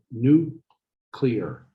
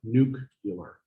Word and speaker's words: nuclear: spectros a resonance spectroscopy it's new clear not nuclear that president said it